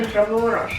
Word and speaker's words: Intramuros: Intramuros.